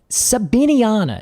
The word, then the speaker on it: sabiniana: really what I thought was fun so so sabiniana you'll notice I've said that several times with